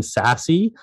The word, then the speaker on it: SASE: Sassy is weird, by the way, because until I heard them pronounce it, I just thought it was SAS.